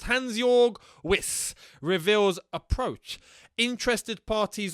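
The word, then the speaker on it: Hansjörg: his name here hansjorg i think it's hansjorg i don't think that jay is pronounced hansjorg with reveals approach interested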